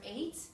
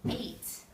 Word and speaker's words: eight: eight it's the number eight but the E actually makes a long a sound eight name game and people